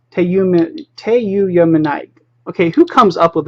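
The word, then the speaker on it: tyuyamunite: I can never pronounce that correctly. It's Teyuyamunite. Teyuyamunite.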